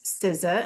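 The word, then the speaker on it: SZA: Siza which I didn't even know how to pronounce Siza until my kids told me.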